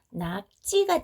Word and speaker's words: 낙지: 그러면 이 지읒이 어떻게 바뀔까요? 쌍지읒으로 바뀌겠죠. 그러니까 발음이 어떻게 돼요? 낙지가 되겠죠. 역시 된소리로 발음되겠죠.